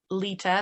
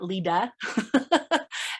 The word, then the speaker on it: Leta: So my name is spelled Leta, so Leta, not Leda. Leta, and then like the color with an E on the end.